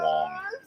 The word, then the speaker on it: Wang: I believe it's pronounced Wong.